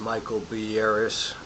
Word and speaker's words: Michael Beiras: proponent leader line Titleist Michael B Aris that's how you pronounce his name quote read the intro